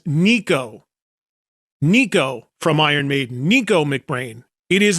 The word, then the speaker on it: Nicko McBrain: Nicko McBrain. It is not. It is Nicko. Just look how it's spelled. N I C K Nick with an O at the end of it.